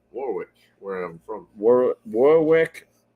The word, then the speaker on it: Warwick: where I'm from where Warwick Rhode Island nobody can pronounce their ours in uh the Northeast so it's a wall wreck Ed yeah ours are W's here so uh yeah the